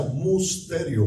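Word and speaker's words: μυστήριον: Por ejemplo, la palabra misterio se pronuncia musterio, muy fácil, muy parecido, muy similar.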